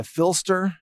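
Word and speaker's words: Phlster: And there's a really great carrier plate made by Filster. P-H-L-S-T-E-R is how that's spelled.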